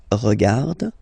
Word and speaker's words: regarde: regardes, il regarde, elle regarde, nous regardons, vous regardez, il regarde, elle regarde. Okay, so one more time here. Regarde, regarde, regarde, and then regarde. So phonetically, only one form here, and then regardons, regardez.